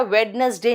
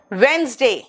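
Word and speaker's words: Wednesday: and money, अब आते हैं डेज के नाम पे, ध्यान से देखना, मंडे, ट्यूसडे, वेंसडे, बेटा वेडनेसडे नहीं बोलते, वेंसडे, थर्सडे, आर साइलेंट है,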